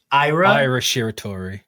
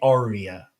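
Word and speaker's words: Aira: Ira. Ira Shiri. Ira. Ira. Ira. Ira. Ira. Okay. I keep wanting to say Arya. Like Arya Stark.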